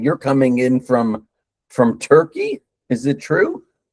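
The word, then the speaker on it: Türkiye: Well, um officially Turkey has changed its name.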